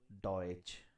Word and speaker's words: Deutsch: say as i said combination of tsch is always going to be pronounced as cher in china for example deutsche deutsch deutsche land deutsche land the last sound